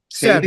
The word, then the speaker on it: Sabi: Sabby. Sabi? Sabby Savvy? rhymes with crabby, spelled like baby.